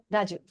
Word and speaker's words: Raju: Raju. I know it sounds like Raju, but it's not a long U sound.